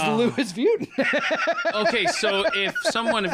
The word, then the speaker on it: Louis Vuitton: people calling and going i think i've been pronouncing it wrong because the headquarter says the louis vuitton okay so if someone if you're listening right